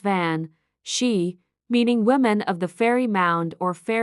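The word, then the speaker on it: bean sí: The word benshi comes from the Irish language where it's pronounced van she meaning women of the fairy mound or fairy women.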